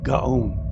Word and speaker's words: Gaon: Gaon.